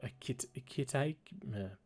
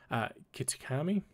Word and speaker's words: Kitakami: trip to a new area, the land of Akitake. I really should pronounce these things in my head before time. Kitakami.